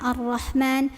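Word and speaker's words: الرحمن: huruf lam dibacanya a lamnya enggak usah dibaca langsung tekan ke ro hati-hati jangan terlalu bergetar arro tapi Ar cukup ya arah h-nya halus keluarin anginnya yang banyak jangan arah ma tapi arrah arrahmani Makanya juga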